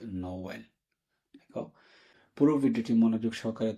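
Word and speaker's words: Noël: একইভাবে নোয়েলের ক্ষেত্রে এখানে পাশাপাশি দুইটা বাওয়েল আছে, সেকেন্ড বাওয়েলে থেমা আছে, তার মানে এই দুটি বাওয়েলকে আলাদা আলাদাভাবে উচ্চারণ করতে নোওয়েল।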